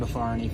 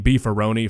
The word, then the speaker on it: Beefaroni: weighing the possibility here that there is a human out there on planet Earth who thinks that a Beefaroni is genuinely pronounced before any I think this might